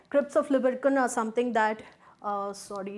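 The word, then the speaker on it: Lieberkühn: forming the crypts of libercan a german spelling with those two dots on the u which brings out that pronunciation right crypts of libercon or something that uh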